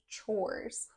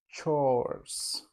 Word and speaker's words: chores: sweetheart can you can you help me to pronounce this word yeah it says chores chores not chair R sound not chairs no chores can the o r sound or okay can